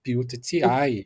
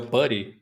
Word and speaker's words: PuTTY: Como normalmente a gente Ele tem um jeito certo de falar, que eu nunca falei, sempre chamei ele de Put, que achava fala. engraçado, mas é o Putty, né?